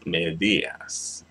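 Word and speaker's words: medias: medas right Ang Las medas medas there you have it medas as situation Falls on the second to last syllable when it ends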